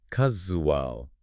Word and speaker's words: casual: Casual. It has that Z sound like in the words pleasure or vision.